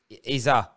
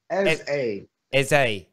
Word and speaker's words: Eze: Iza. No, Ez- Eze. Eze. Yeah. It's not an E. Pretend there's no E at the end.